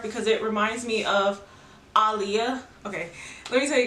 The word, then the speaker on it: Alia: said it like that aliyah is our guest am i saying your name right i am right there alia yes i say aliyah it's alia like muhammad ali i got it so